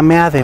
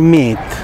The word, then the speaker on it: Meade: Primero, deja de pronunciar como ellos quieren que pronuncie su apellido. O sea, él se llama Meade, muy bien, ya, dilo así. En el momento que tú empiezas a decir Meat, ya estás siendo parte